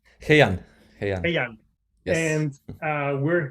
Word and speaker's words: Hei'An: Hei'An? HeiAn.